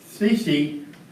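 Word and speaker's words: Secchi: test for water Clarity using a cc which rhymes with Becky which I don't know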